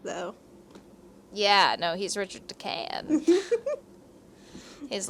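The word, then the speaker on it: de Calne: And from what I read, I thought that it was supposed to be pronounced Richard de Can, like the L is silent.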